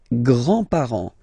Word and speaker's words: grands-parents: with the grandparents, les grands-parents, les grands-parents. Remember, you don't pronounce this final S here, grands-parents, okay?